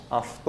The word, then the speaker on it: αυτό: o auto, que em grego pronunciamos αυτό.